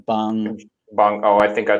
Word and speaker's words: Bong: pronounce the Parasite director Uh, the correct way? what did you say? It's Bong.